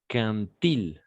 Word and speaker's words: quand il: No vamos a pronunciar quand il est arrivé, quand il, ¿d'accord? Como una T acá. ¿Ok? Como una T imaginaria.